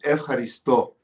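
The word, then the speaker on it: ευχαριστώ: I'm making my F, ha, risto. F, ha, risto. F, ha, risto. Now the question is, where's the accent? You're challenging me. I've been neglecting my Greek. F, ha, risto.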